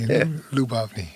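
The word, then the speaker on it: Lyubovny: Labni. Labni. Labavni. Well, I don't know why I thought you had four syllables in your last name. Lubny. Three. So, it's three. Lubny.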